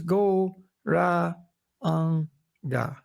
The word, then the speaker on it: Gauranga: Our mantra for today will be the mantra Gauranga. Мантра, яку ми сьогодні будемо використовувати, це Gauranga. And for this meditation, we divide it into 4 syllables, Go, Ra, Ang, Ga.